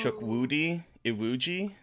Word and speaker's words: Chukwudi Iwuji: The most evil villain I've seen in a Marvel movie, played by, I don't know how to pronounce his name. I apologize. It's Chukwudi Iwuji.